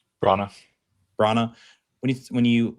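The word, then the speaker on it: Branagh: Bronna Bronna when you when you look at his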